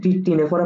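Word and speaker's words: Ctenophora: পর্বের প্রাণী সিওলোপ্লানা হচ্ছে টিনোফোরা পর্বের প্রাণী ঠিক আছে কোন পর্বের প্রাণী টিনোফোরা পর্বের প্রাণী টিনোফোরা পানি কিন্তু শুরুতে সি থাকে এটা উচ্চারণ টিনোফোরা কিন্তু শুরুতে সি থাকে ঠিক আছে টিনো টিনোফোরা পর্বের প্রাণীদের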